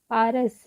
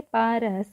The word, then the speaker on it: पारस: पारस पारस last में सिर्फ स है। तो स के साथ अ का उच्चारण नहीं हो रहा है।